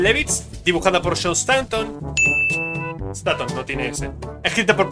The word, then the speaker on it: Staton: Como Station, pero sin la I, cambia completamente la pronunciación. Escrita por Paul Levitz, dibujada por Joe Station.